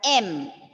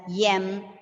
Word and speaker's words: M: For all this, I have heard some children pronouncing it as yem, yen, yes. So, Ma'am, like Y is coming. The pronunciation. Yes. Pronunciation. Pronunciation, it is just M.